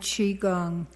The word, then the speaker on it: Qigong: Hi, it's pronounced Tai Chi and Qigong, and this is a world event.